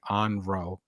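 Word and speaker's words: 怨霊: And I will pronounce it incorrect, but it's like onro is the word, but it's vengeful spirits.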